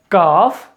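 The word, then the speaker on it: calf: It sometimes L gets silent. अब एल कहां कहां साइलेंट होता है आपको ये याद रखना है, ये आपको मालूम होगा। सो it's becomes काफ, हाफ, haves, could, should, would, Sam and talk.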